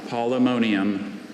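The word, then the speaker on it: Polemonium: Are there any alternate pronunciations? I have just the one, polymonium.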